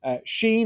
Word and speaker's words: Shein: Sheen or Shein, depending on how you want to pronounce it, and the rise of ultra fast fashion.